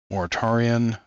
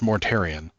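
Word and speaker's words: Mortarion: Moritarian, Demon Primarch. Mortarian. I don't know why I mispronounced that at first, but it's Mortarian.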